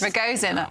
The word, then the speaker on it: Ragozin: kind of call the Ragozin. Yeah. That's a new one. Never heard that. Ragozin. Okay, that's the correct pronunciation.